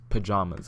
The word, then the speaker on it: pajamas: How do you pronounce the second syllable of pajamas? With the vowel palm. With the vowel and paw, I use pajamas. I don't say pajamas, I say pajamas.